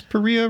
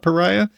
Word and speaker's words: Paria: I think it's Pereia River, not Pariah.